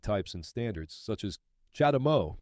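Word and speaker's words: CHAdeMO: and standards such as chadam Mo pronounced charged Mo this is a Japanese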